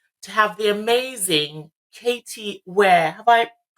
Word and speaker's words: Weir: on episode 2 to have the amazing Katie where have I pronounced that correctly no that's correct and did